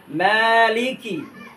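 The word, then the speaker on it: مَالِكِ: তিন নাম্বার আয়াত মালিকি এখানে আমরা যে ভুলটা করে থাকি মালিকি মালিকি মানে মিমের মধ্যে আমরা টান দেই না মিমের মধ্যে খারা জবর আছে এক আলিফ টান হবে এখানে মালিকি ইয়াওমিদ্দিন মালিকি ইয়াওমিদ্দিন মালিকিউমিদ্দিন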